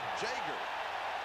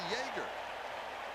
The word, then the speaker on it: Jager: When he came to Southern California, he said, why does everybody ask me how I pronounce my name? Read it. It's Jager. Well, he shouldn't come down to visit you then. You live in the Yoa? Because we would think that it would be Jaeger.